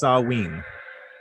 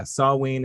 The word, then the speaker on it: Samhain: phobia or sawenaphobia samhain samhain is actually produced pronounced sawween oh nice yeah sawween is is the uh way that you excellent